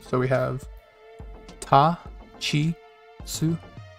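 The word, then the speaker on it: つ: Next is the second exception, tsu, like you call it tsu more fish with your sideways hook, tsu.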